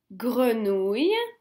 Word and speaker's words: grenouille: They are the words, and this is the way you pronounce them. Grenouille, grenouille.